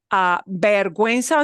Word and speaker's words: vergüenza: That means we do pronounce the U. Normally it would be vergüenza, but they don't pronounce it that way. It's vergüenza. So to indicate that we do pronounce the U, because GUE usually has a silent U, we put that double dot.